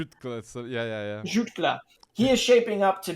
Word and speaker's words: Jutglà: Jutglà. So, yeah. Jutglà.